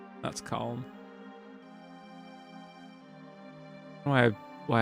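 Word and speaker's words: Kalm: Uh, we're going to go northeast to calm. That's calm. Why? Why I make a special effort to pronounce the L and Palmer as well.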